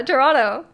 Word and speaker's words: Toronto: before today that's different um Toronto Toronto yeah Toronto that's how you say it you can't say